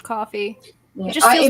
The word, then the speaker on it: Ko-fi: I forget that it's technically pronounced coffee. Yeah. It just feels it might weird be saying Kofi.